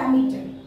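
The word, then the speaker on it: ammeter: air pressure মিটার অ্যামিটার অ্যামিটার উচ্চারণ হবে অ্যামিটার air pressure number four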